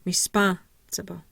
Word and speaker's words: responsible: and the B respons my primary stress is on the second syllable spawn I have no secondary stress I have tah my second last syllable and my last syllable remember B is SW anyway so respon so we're really hearing that SP responsible responsible responsible there we go so